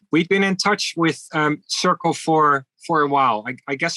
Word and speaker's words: Cercle: One of the things that you did recently, and I'm probably going to mispronounce this, but Circle or Cercle. Yes, Circle. Yeah. Yeah.